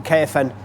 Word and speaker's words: Caofen: There you have the caofen electric trails bike.